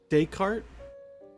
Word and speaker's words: Descartes: You said Descartes? That's how you would pronounce that word? Okay. Language be weird, man. Let's just throw in a bunch of letters and not use them.